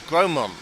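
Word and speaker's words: Grosmont: I thought it was Gromont, but the S was silent.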